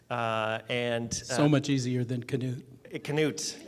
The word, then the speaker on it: Knute: Knute, because you have to pronounce the K.